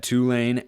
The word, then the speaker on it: Tulane: guy from 2016 to 2019 he was at Tulane as the defensive backs coach that is how you pronounce it by the way gotta have the